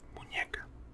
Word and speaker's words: muñeca: And then you would use the special letter, which is ñe, to pronounce it muñeca. ñe, ñe.